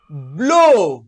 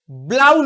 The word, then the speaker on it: blow: ফ্লাউ নয়, ব্লো। BLOW, ব্লাউ নয়, ব্লো।